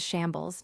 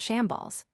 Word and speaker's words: Shambles: Dear, it's pronounced as shambles, not shamballs. Shamballs. Law and the revolutionaries switched places again. Not shamballs, shambles.